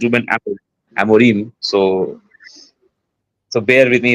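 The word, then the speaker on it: Ruben Amorim: to all those United fans Actually, it's not Reuben Amiran, it's Reuben Amarim. Actually, it's Ruben Amarim.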